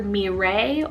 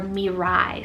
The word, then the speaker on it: Mirai: next one here actually has two different pronunciations depending on what you like it's either mirae or mirai spelled m-i-r-a-i and this